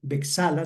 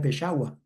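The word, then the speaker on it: Beczała: El tenor es el polaco Piotor Bexala se leería, pero cuando él estuvo en Colombia él decía que su apellido se pronuncia pesha.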